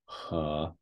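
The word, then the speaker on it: 河: So, for example, this meaning river, he. So again, this is pronounced he.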